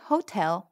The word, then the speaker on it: hotel: Now say, the Hotel Buenos Aires. You can do this one. El Hotel Buenos Aires. The H is silent in Spanish.